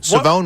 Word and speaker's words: Siobhan: Savone Rebel. The corner that I mentioned from East Carolina is a second rounder. It's spelled Siobhan but it's Savone Rebel.